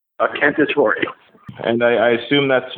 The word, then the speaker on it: Cantatore: how do you say your last name a candidatory and i i assume that's not scottish nope